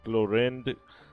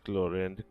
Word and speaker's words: Clorinde: script so I think I've been pronouncing the name choren just wrong so it's chlorin chlorin so there you go